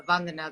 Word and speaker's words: Vandana: Like a damner, but a Vandana that damns.